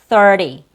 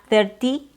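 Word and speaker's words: thirty: they also sound different ti doesn't have a a clear th sound and also there's a different r sound in it ty terti ti It's th there's the th 30.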